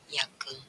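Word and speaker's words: Jacke: ya huruf selanjutnya adalah huruf j kita membacanya J tapi orang Jerman membacanya Yod contohnya pada kata yake tulisannya itu jak tapi membacanya yake di yake sekali lagi di yake artinya jaket huruf selanjutnya adalah huruf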